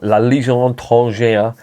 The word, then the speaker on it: La Légion étrangère: went to join the French Foreign Legion, or La Légion étrangère as it's pronounced.